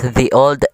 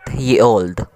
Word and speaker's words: ye olde: th one more thing it's meant to be pronounced as the old and not ye old thank you for watching